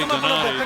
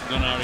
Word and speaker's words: Donaire: Once in a while, you'll hear me say Donaire. That's the way they pronounce it in the Philippines and I and when I talk to him, I say Donaire so I haven't got lost my mind. I know it's Donaire here in the United States.